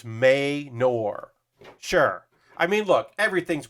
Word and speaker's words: Manor: Okay, so Bexar is Bear, and Manor is Maynor.